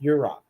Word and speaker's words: Yurok: Yurok.